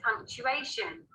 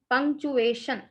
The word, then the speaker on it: punctuation: What is punctuation? Yes, so pronunciation hengada andra Punctuation. Shun words TUA ಚೂವೆ ಆಗ್ತದ. puncture ಹೆಂಗಂತೀವಲ್ಲ PUNCTURE puncture, like that. ಪಂಕ್ಚುವೇಶನ್ ಇದು ಬಹಳ ಸೌಕಾಸಾಗಿ ಶಬ್ದ ಬರ್ತದೆ, ಆವಾಜ್ ಬರ್ತದೆ ಇದ್ರ.